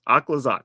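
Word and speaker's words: Aclazotz: oh this is exactly how I would have pronounced it akad zots aquazot yeah that's what it looks like okay cool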